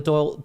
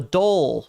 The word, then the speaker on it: Dole: completely uh owned by the Doyle the Dole, not the Doyle, the Dole um the Dole Corporation.